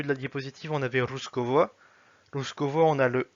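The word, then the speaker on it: русского: Autre cas où ça peut se prononcer V, c'est quand c'est entre le deux O. Par exemple, tout à l'heure, au début de la diapositive, on avait Ruskovo.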